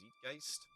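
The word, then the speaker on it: Zeitgeist: marshall from a5e uh i think it's pronounced zetgeist for sure um there's three subclasses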